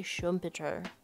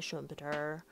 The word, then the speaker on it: Schumpeter: capitalism socialism and democracy by Schumer Sher as rafie would tell me to pronounce it but here we are in America and we will say shumer um this chapter is